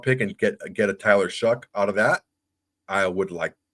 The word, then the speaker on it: Shough: You say it Shuck. It's Shough, but it is pronounced Shuck.